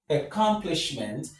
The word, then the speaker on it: accomplishment: We have a- Accomplishment. The stress is on the third syllable from the end of the word.